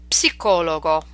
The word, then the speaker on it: psicologo: Okay, so these are words we're familiar with, but in English we do not pronounce the P, whereas in Italian you must pronounce it. Let's practice them. Psicologia, psicologo, psichiatria, psicosi, psoriasi.